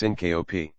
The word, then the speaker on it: Syncope: is referred to as Syncopy or in non-medical quarters fainting Syncopy accounts for one in every 30 visits to an emergency room it is pronounced synop Syncopy is due to